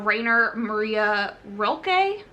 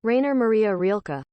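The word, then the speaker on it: Rainer Maria Rilke: famous German poet uh Raynor Maria roelke sorry if I'm pronouncing that incorrectly this is how you pronounce it Rainer Maria rilka this starts off with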